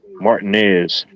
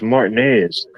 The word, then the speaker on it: Martinez: They say Martinez. They say, no, it's Martinez.